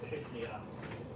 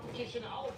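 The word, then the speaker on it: Chișinău: Second one, I'm going for the Chishnia. Or Chishnia, How do you pronounce it again? Chishnia. Chisinau.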